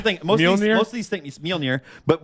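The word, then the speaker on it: Mjölnir: But what I used to call it when I was a kid, because I was reading the comics, is Mjolnir. Yeah. So because that's the way it's spelled. It's MJOLI or LNIR. So to me, it was Mjolnir, and it's just weird.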